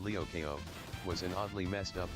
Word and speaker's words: Lyoko: Winx Club was a show about fairy girls, and Code Lyoko, pronounced Lyokeo, was an oddly messed up kids cartoon.